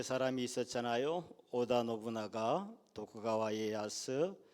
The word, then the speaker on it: 도쿠가와 이에야스: 일본의 전국 시대를 평정한 사람은 수단과 방법을 가리지 않고 재주가 많았던 도요토미 히데요시가 아니고, 성질 급한 오다 노부나가가 아니고, 덕천가강이라고 배워서 저는 발음이 자꾸 헷갈리는데 도쿠가와 이에야스가 결국 인내함으로 일본을 평정했죠.